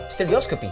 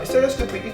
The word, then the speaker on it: stereoscopy: Pronunciation. Stereioscopy. Ano po ito? Ah, stereoscopy.